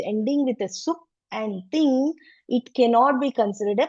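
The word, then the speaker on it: tiṅ: Ting is like, you can remember this as T-H-I-N-G. Ting, right? There, you have to speak until N only. You should not do the G.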